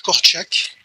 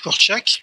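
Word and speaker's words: Korczak: conseils coopératifs c'est yanouche corak ceux qui veulent écrire corak ça s'écrit k r CZ AK k ça ça s'écrit pas du tout comment ça se se prononce c'est le pédagogue père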